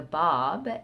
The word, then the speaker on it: Báb: new to this name the bob it's spelled b-a-b with an accent over the a and it means the gate it's a title that